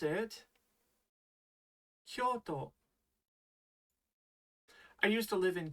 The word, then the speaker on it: Kyoto: You pronounce it Kyoto.